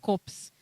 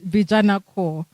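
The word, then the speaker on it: Vijana Corps: It's not COPS, okay? They are not in the business of dead bodies. It's Vijana Core.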